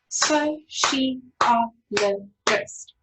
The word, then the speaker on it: sociologist: Okay, if we put it together into syllables, it's sociologist. Okay, so well, let me get my skinny line. Sociologist. Okay, so you'll see, and this is the sound that we're working on today, is the C sound.